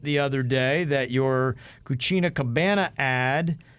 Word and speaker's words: cucina: other day that your cucina cabana ad you are pronouncing the word cucina which means kitchen with an h at the end so it sounds like cucina and that means dirty